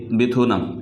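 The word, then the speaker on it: 베트남: দেশ নেপাল একটা দেশ বেথুনাম একটা দেশ আমরা ভিয়েতনাম বলে থাকি তো কোরিয়ানরা বলে থাকে বেথুনাম কোরিয়ানরা বলে থাকে বেথুনাম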